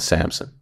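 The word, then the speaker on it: Samsun: this year I'm playing in a town called Samson Samson is how you pronounce it awesome give us your professional athletic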